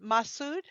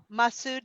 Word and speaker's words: Masood: you and also is your name pronounced Masood yeah Massoud nice to meet you